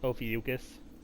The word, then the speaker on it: Ophiuchus: Oh, by the way, guess how Ophiuchus is apparently pronounced? Ophiuchus.